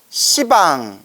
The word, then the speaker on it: 시방: 식빵 하면 욕 같잖아요 그래서 불교에서는이 십자 발음을 이렇게 완화시키기 위해서 식빵이라고 하지 않고 지방이라고 불러요 시방 그래서 동서남북 사방팔방 탈방의